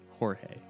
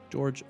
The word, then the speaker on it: Jorge: of training a trainer accidentally called George by the Spanish pronunciation Jorge George very quickly corrected the trainer and was rewarded with